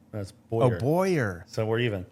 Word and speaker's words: Bowyer: last name that Well, you said my last name wrong. it's Bowyer. That's Bowyer.